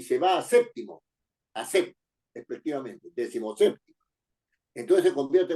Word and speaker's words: séptimo: llevar acento en d séptimo es una palabra esdrújula y tiene que llevar su acento en SEP en la sílaba SEP que es la anterior